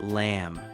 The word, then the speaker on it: lamb: For example, when you order lamb, the B is silent. It's just lamb.